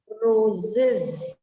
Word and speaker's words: roses: रोज, इसको आप es लगाते हो and it becomes roses, roses. इसको आप कैसे प्रोनाउंस करोगे?